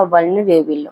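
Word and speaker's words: vulnerable: वल्नरेबल बोलते हैं, सही प्रोनाउंसिएशन है इसका वल्नरेबल।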